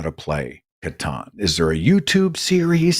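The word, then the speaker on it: Catan: I tried to learn Natalie bought something called Katon I've got it C is it c a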